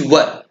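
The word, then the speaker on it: were: अब एक चीज यहां प्रोनाउंसिएशन पर ध्यान देना होगा, बहुत लोग वर को वेयर भी पढ़ते हैं, but correct pronunciation is वर नॉट वेयर।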